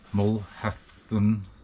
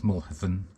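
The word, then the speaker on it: Mulhacén: my climb today of mulen I did look up the pronunciation I think it's mulhan I want to give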